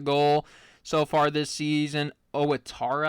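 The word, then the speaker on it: Ouattara: Owittara, I think is how you pronounce it, with a goal.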